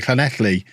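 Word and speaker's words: Llanelli: to learn to say Clan athlete and even as part of that I didn't learn to pronounce the double L's I just learned to pronounce that word like an English person trying to be clue hello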